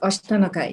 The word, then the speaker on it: Ashtanakai: She's been a trustee on Ashtanakai. Am I saying it right? Yeah, Ashtanakai, yes, that's right.